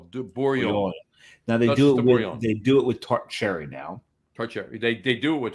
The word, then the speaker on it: Bourgogne: And now they do G's. You don't pronounce the G's at all. De Bourgogne.